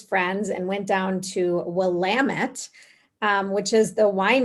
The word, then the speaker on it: Willamette: and went down to willamette um which is the wine region and i always thought it was like willamette but it's willamette and they always say it rhymes with damn it that's how you remember